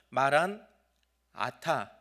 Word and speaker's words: 마라나타: 마라나타는 두 글자가 합쳐진 건데 마라나타 하고 나 다음에 쉬느냐, 아니면 마란 아타 해서 아자 발음 바로 앞에서 쉬느냐, 두 가지 경우가 다 가능합니다.